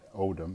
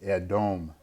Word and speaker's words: Edom: Edom, excuse me, not Odom, it'd be Edom.